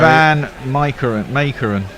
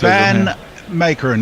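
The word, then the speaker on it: van Meekeren: How are we pronouncing him correctly? Who are we on now? Sorry. Van Makeren is what it says. Van Makeren, yes.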